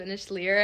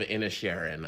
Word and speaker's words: Inisherin: or in Sharon in Sharon Lear which is like not the title at all but that's what I was telling people I'm like yeah I've seen the banshees of in leer and that's like that's not a movie no the the banshees of in Sharon I'll go with that.